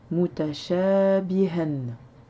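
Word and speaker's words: مُتَشَابِهًا: Alors j'ai dit ha au lieu de hen parce que ici on marque une pause et quand on marque une pause, le tanwin ne se prononce pas. Mais si on aurait dû le prononcer correctement, on aurait dit mutashabihan.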